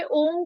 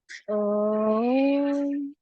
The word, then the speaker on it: ओम: जब आप अ बोलते हैं तो नाभि से, ओ की ध्वनि हृदय स्थान से, और माँ की ध्वनि कंठ स्थान से निकले।